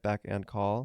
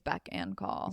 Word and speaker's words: beck and call: how you say it back and call yeah be call no I think it's beck and call same slay I feel